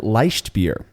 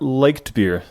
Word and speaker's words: Leichtbier: with me about German LED beer you pronounced it correctly it is not liked beer which I've been uh guilty of saying actually yeah I think